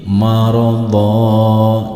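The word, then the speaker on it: مرضا: Tetapi ketika kita membacanya berhenti di sini, maka huruf dha yang berharokat fathah tain dan ada alifnya, fathah tainnya berubah menjadi fathah karena diwakofkan. Maka berbunyi maradha jika dihentikan.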